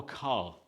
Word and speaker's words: ka: Okay, so our doom is spelled D-O-U-M, and our tek is T-A-T-E-K, and then now our ka, K-A, ka, is played with our ring finger on our non-dominant hand.